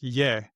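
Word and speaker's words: 也: For the he version of ta, the leftmost radical is the male, and the other one is it's pronounced ye.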